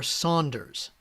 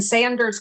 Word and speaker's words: Sanders: your name yesterday uh is it Sanders or Saunders please yeah uh let's go ahead and open up and share there is no you in Sanders Craig I am very